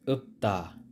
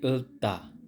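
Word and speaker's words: 읊다: chol Moyo chol Moyo next is up ta up ta hindi tta at kapag ang kasunod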